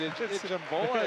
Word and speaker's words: Ijambola: Ijambola is what they pronounce it.